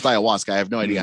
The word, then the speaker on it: ayahuasca: text line yeah well it's pronounced Ayahuasca I have no idea